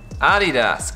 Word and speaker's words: Adidas: Adidas. Again. Adidas. Adidas. Adidas, okay. And the right pronunciation is Adidas. Adidas, correct. So the accent or whatever you call it is on the first syllable A.